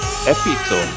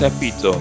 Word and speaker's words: epitome: So, this other word, epitome, I would have pronounced epitome, but it's actually epitome.